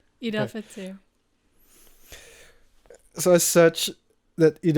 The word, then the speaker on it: Fitr: So yeah, essentially Eid Al Fitr, is it Fitr or Fight? You're saying it right. Eid Al Okay. Fitr.